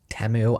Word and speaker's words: Temu: I would go as far as saying that TikTok shop is essentially just Temu. Tem-mu. I'm never calling it Tem-mu. I know that's how you meant to pronounce it.